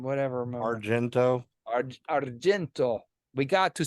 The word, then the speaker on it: Argento: always gets naked in his eyes yeah yeah Arjun whatever Argento Argento we got to say it with the